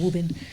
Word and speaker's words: Woburn: public school in Massachusetts, Woburn, if I say it correctly. There's no R in Woburn.